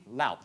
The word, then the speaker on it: Laup: Katie is a Laup? Or Thank you. Laup. Okay, good. That's 2 for 2 on pronunciation.